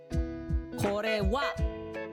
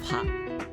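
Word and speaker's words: は: Funny how this is actually pronounced as wa instead of ha.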